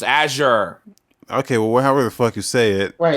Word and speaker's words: Azure: really house pronounced yes I just pronounced Azir you guys are morons it's a sure okay well whatever the